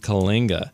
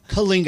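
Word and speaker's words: Coalinga: this little town named Kinga Kinga how do you spell that c well yeah how you spell it and how you say it are two different things but um c o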